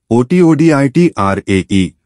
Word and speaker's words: Satyajit: Satyajit Ray, pronounced ˈʃotːodʒit, was a towering figure in Indian cinema, a maestro whose influence transcended borders.